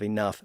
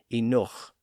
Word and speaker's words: enough: But he acknowledged that the pronunciation of enough varied. He said that some people used the older pronunciation enoch.